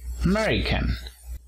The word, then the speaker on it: American: The United States, Estados Unidos, nacionalidad, American, acento en la segunda sílaba.